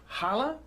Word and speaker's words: challah: And today, we're going to make some traditional Jewish delicacies, and we're going to start with challah.